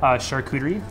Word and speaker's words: charcuterie: And today he's going to tell us a little bit about charcuterie. Is that the right way to say it? Yep, charcuterie, which is basically any type of preserved meat,